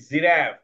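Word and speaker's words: giraffe: আচ্ছা এটা এটা কি এটা গ হবে না এটা জ হবে এটা হবে জিরাফ জিরাফ জিরাফ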